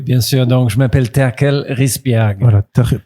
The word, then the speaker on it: Terkel Risbjerg: Donc, je m'appelle Terkel Risbjerg. Voilà, Terkel Risbjerg.